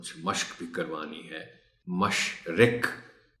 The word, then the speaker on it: مشرق: مشق بھی کروانی ہے۔ مشرق، مرغ رے پر جزم ہے، اس کا خاص خیال رکھا جانا چاہیے۔ عجب، جیم پر تھوڑا